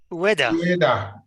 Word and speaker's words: Ueda: Ueda. You basically pronounce all the vowels. Just think of UEFA, but with a D.